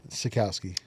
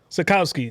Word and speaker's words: Sachkowsky: Not Sachkowsky, not Sachkowsky. I pronounced every single letter. So say it again. Sachkowsky. Sachkowsky.